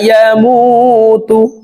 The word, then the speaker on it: يموت: সুম্মা লা ইয়ামুতু, মু এখানে এক আলিফ টান। পেশের বাম পাশে জজমওয়ালা ওয়াও মদের হরফ, ডান দিকের হরকতকে এক আলিফ টানিয়া পড়িতে হয়।